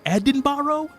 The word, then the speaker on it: Edinburgh: You're going to flip when you hear how Edenburgg is pronounced. What? Edinburgh. Edinbarro.